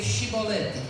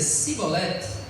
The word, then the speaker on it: chibolete: Aí se respondesse que não, os homens de Gileados lhe diziam: "Então diga chibolete". Diga cibolete. Se ele dizia cibolete, não podendo pronunciar corretamente a palavra, então eles recebiam um abraço e um aperto de mão.